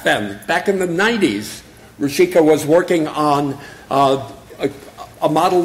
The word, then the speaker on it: Rushika: I'm going to say how to pronounce his name, which is Rushika.